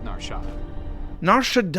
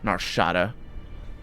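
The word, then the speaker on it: Nar Shaddaa: than the rest of narshad my god you guys need to learn how to pronounce this place narshada also why would it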